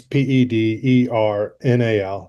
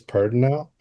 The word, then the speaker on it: Pedernal: Yeah, so the Pedernal Project, that's Pedernal. Again, that means it's the Spanish word for Flint. Pedernal Project, which is, I do want to digress and say that it's like most commonly uh, pronounced in Texas Pedernal, which has always kind of driven me crazy.